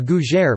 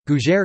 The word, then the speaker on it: gougère: a GU Jer pronounced you in French cuisine is a baked savory